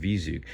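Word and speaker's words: V-ZUG: It comes from I believe it's pronounced Vizug.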